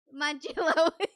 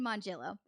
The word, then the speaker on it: Mongillo: pretty sure that's how hey jb how do you say lisa's name how do you say lisa's name manchelo okay so i was right i said mongillo so uh lisa is